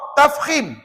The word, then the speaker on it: tafkhim: sama-sama yang pertama ra tafimim sekali lagi sebut tafkim macam mana Eja tafhim itu bahasa Melayu Ustaz